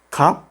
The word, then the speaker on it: 값: Solamente pronunciamos la primera consonante 브. 값, que significa precio.